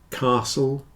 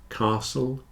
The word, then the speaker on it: castle: in all of these the t is not pronounced especially in Words with a STL spelling Castle whistle listen Castle whistle listen answer and